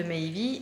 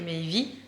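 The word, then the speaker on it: Meivy: Donc en fait, on a modifié et on a regardé comment ça s'écrivait en français, la même prononciation du mot Maëvy. Donc M-E-I-V-Y. Donc c'est pour ça qu'on a appelé Maëvy, Maëvy.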